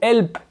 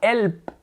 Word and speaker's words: help: Help, c'est pas help, c'est help. Vous voyez? Donc quand le L est suivi d'une consonne, comme là un P, on va prononcer le dark L. L, help.